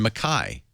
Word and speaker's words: Mackay: But I was told several times, no, it's pronounced Cairns and Mackay.